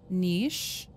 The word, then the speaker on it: niche: I ask, frames and two common pronunciation variants. Niche rhymes with sheesh. Niche, the more common one. Oh, niche is more common.